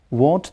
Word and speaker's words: won't: want just notice uh the different pronunciations of these words one is won't I won't go means I will not go and I want to go that is v a n w n t means I wish to go and the last example is